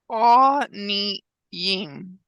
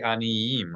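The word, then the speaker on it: עֲנִיִּים: A lot of people would just read this aniyim with no Y. because the yod has a dagesh in it. That's Yud has right. dagesh. Anytime we see the letter yud with a dagesh, we should pronounce the consonant Y sound and not just the vowel.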